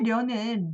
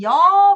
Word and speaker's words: 려: 나그네 려는 려 발음이 나중에 여 발음이 됩니다. 이렇게 앞에 오면 여. 그래서 잘 보셔야 됩니다. 여가 려에서 왔고요.